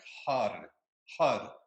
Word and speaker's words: har: the in my manual it's spelled h-a-r but when you say har it's actually you say it like hud sounds like hud but it's hard but when in gurmukhi when you're really uh enunciating it it comes out as hud all right now uh